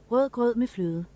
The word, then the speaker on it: rødgrød med fløde: Rødgrød med fløde. Rødgrød med fløde. Rødgrød med fløde. Very much a lack. There's not a lot of emphasis on the D's in the first.